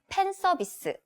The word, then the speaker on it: 팬 서비스: Right, we don't have F sound in Korean pronunciation, so we just use P sound instead. So it's 팬 서비스.